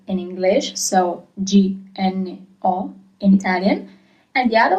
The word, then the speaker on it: gno: So G-N-O is gno as a sound, gno. G-N-A is gna as a sound, gno, gna.